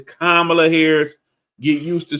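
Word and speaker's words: Kamala: how to say her name correctly it's not camela it's not cam it's kamla Harris get used to saying it properly because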